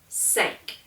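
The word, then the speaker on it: cinq: of a cat's Claws Cat Cat and then sank uh it's morbid but five people sank on a boat okay or there are five things in the kitchen sank all right in the South we can get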